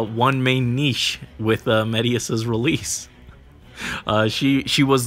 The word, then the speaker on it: Medeus: come on medius i kept thinking it was pronounced madeas uh but it's medius apparently according to his voice lines and so i have to have to bear that in mind that it's he's pronounced medius ah no no colorless